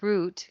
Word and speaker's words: route: parts of the old Route 66 a language note the word root can be pronounced to rhyme with boot or with shout depending on where you are from however when referring to